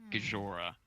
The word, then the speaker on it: Gijora: Alright, so if you actually want to pronounce it, it's actually Gajora. So it's like Gojira, the Japanese kaiju, but the letters are backwards so that I don't get forced character name change.